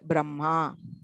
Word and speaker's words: Brahma: So aparannaha, madhyannaha and brahma. So the pronunciation is the anunasika comes first. And also it is not just the reversal of order. There is something, you don't say it as brahma.